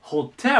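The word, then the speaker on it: hotel: なんですけど英語はここに来てホテルと言いますホテこのアクセントの位置ねセットで覚えておきましょうで次これ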